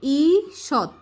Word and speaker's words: ঈষৎ: মিনু শুধু বোবা নয়, ঈষৎ, এই যে এটার উচ্চারণটা দীর্ঘির উচ্চারণটা কি হবে, রস্যইর মতো, দীর্ঘি মূর্ধন্যস খণ্ডত, তো ঈষৎ, এই যে খণ্ডতর উচ্চারণ কি বলছে ত, ঈষৎ।